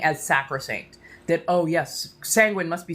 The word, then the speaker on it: Sanguine: Sanguine rhymes with penguin.